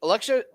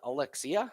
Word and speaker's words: Alexia: This Listen, Alexa. Alex. Uh I think they said they pronounced it Alexia. So it's not Alexa.